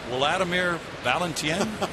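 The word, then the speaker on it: Wladimir Balentien: this name for me Wladimir valentien is that correct correct that is that is the way you would pronounce it in Spanish there's no doubt about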